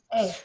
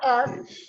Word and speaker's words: es: K. Yes. Ace. Not S.